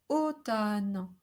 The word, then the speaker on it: automne: Automne, because we have an AU which must be pronounced closed at the beginning. Automne. And the second one is open because it is followed by a consonant cluster.